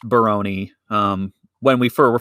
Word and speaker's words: Barone: a couple times on the podcast mr eric barone and it is pronounced baroni um when we fir were first saying it